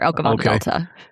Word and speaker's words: Okavango Delta: Batswana and one part was called the Okavango Delta. Am I pronouncing that correctly? Yes, you are. Okabango Delta.